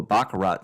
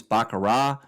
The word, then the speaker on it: baccarat: We're going to do a Baccarat session.